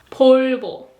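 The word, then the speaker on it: 볼보: one vulva Volvo is portable portable portable there's no V sound so it is portable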